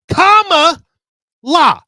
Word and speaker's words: Kamala: Say it with me, comma. He spells it like comma. Look at this. Comma, la. One time for the show, people, comma, la.